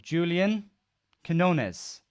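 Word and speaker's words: Julián Quiñones: So the first one is a man by the name of Julian Quinones. That is apparently how it's pronounced.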